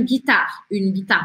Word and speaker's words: guitare: Ah, tudo bem, o E não se pronuncia, mas também preciso que você lembre que esse U aqui não se pronuncia. A gente fala gui, não fala gui, tá? É guitar. E esse R aqui é aquele R do francês arranhado.